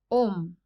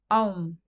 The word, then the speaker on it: Om: The first letter, A, is the root sound, the key, pronounced with touching any part of the tongue or palate. Represents the last sound in the series, being produced by the closed lips.